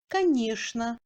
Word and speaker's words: конечно: Tchen se prononce normalement comme shn dans les mots скучный, конечно, нарочно, etc.